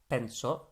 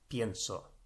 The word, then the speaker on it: pienso: think but i think is not penso but the e has split into i e it's collapsed into ie i say collapse because it's to do with the stress that's being put on that syllable that makes it change so pento becomes pienso and this is another